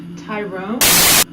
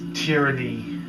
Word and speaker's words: Tyranny: Tyrone. It's Tyranny. It says Tyrone. It even says Tyrone on your jacket. It's pronounced Tyranny.